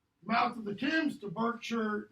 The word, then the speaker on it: Berkshire: Mouth of the Thames to Berkshire. It's Berkshire, by the way. It's not Berkshire.